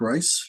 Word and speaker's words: Reis: And that reis is spelled a little different. It's pronounced rice.